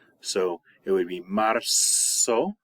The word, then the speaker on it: marzo: Okay, all Z's in Spanish are pronounced like S's. So it would be marzo, marzo, abril.